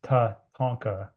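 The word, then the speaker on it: Tatanka: And Tatonka, it's Tatonka is is how you say it in Lakota language is um you know central to everything spirituality, life life ways.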